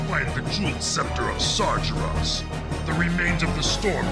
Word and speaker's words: Sargeras: Well, it's pronounced Sargeras.